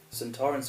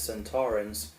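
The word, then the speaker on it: Sontaran: Also, Donna's misprononunciation centur was actually the original pronouncing in the time warrior the first episode. San Torren appeared, but Kevin Lindsay, who played Lynx, pronounced it as San Torrance, just like we all do, and he won the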